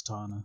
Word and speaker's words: Tana: I just want to make sure before we continue, is it Tana or Tana? It's Tana.